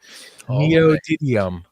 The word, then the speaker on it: neodymium: Neodymium.